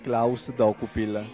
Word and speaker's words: Dokupil: adesso che stavo attento, ma tu hai sempre pronunciato perfettamente Klaus Dokupil, quindi sei stato bravo.